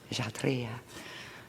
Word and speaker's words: Kshatriya: Kshatriya.